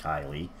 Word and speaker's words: Kyle: i'm sure it's pronounced kylie that's generally a feminine way to pronounce it again if i've been